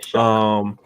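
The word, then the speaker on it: Shough: That's how you say it? Yeah, Shuck.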